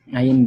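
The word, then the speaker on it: ع: Ain dan ha. Ain dan ha. Baik. Ha. Kemudian cara pengucapan seperti apa, Pak Sirun? Cara pengucapannya untuk huruf ain tidak mengeluarkan suara nafas.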